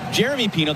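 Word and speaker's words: Yeremy Pino: Because Jeremy Pino, that's how he says his name. Jeremy with a hard J sound.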